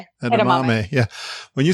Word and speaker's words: edamame: Edamame.